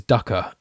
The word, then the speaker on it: dukkha: Dukkha, yeah, dukkha, there you go. Which means, which literally means Dukkha.